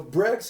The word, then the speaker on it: Breggz: no but but both yeah yeah so no brex is like is like the uh uh um